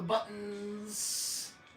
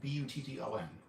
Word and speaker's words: button: How do you say the word button? I say button. I have a friend who says button, like he pronounces the T. And then I've heard people who just pretend the T isn't there, so they say button.